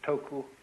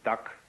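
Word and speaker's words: 德: this word death uh the Japanese pronounce it toku the cantones duck and the northern mandarins approximately du and uh in the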